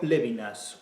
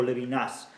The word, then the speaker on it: Levinas: Según la persona que me lo ha proporcionado, este texto lo escribió Lévinas, o Levinas, o Levinas, según lo quieran pronunciar, a la esdrújula, a la aguda, a la francesa, como les dé la gana.